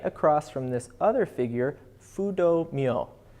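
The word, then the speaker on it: Fudō Myōō: from this other figure, Fudo Myo, F-U-D-O-M-Y-O-O. And yes, that is definitely an Anglo pronunciation of that.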